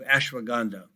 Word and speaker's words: ashwagandha: And that is spelled ASH. WAGANDHA, ashwagandha.